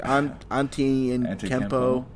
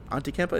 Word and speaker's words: Antetokounmpo: How do you pronounce his last name, Greg? It's like Antetokounmpo. Antetokounmpo.